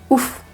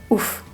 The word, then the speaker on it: ouf: Par exemple, c'est fou. En verlan, on va dire c'est ouf. Fou, ouf.